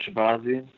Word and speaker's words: Shahbazyan: Edmund Shahbazyan.